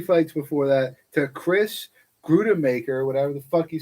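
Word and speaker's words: Gruetzemacher: So and he lost 3 fights before that to Chris Grudemaker, whatever the fuck you say his name. Grützmaker.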